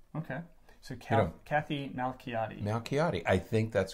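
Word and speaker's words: Malchiodi: So this would be Malchiati. Okay. Is how you would pronounce her name, because the CH wouldn't be Mao Shi or Mao Chi, it would be Malchiati. Okay. So Kathy Malchiati.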